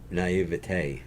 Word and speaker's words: naive: Uh, naive.